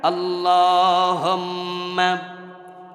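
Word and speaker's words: اللهم: উচ্চারণ ভুল না হয় যেখানে টান আছে এখানে টানবেন আল্লাহুম্মা সাল্লি আলা এভাবে পড়তে হবে কিন্তু আল্লাহুম্মা মাথায় টান নাই তো টানলেন কেন সাল্লি নাই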